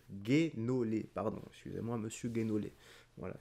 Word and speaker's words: Guénolé: entre Fabrice divisio et Thomas guolé apparemment Guénolé pas gu Guénolé pardon excusez-moi monsieur Guénolé